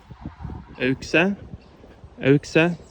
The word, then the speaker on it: Auxerre: Auxerre is the pronunciation.